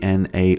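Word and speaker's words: Gnar: Hey Gemini, there's um champion by the name G N A R and I'm wondering how do you pronounce his name? The general consensus for pronouncing Na is with a silent G making it sound like Na.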